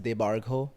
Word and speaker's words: Debarghya: My first name is pronounced Debargho, which is why it's very hard for everyone to say it. And it's spelled Debarghya.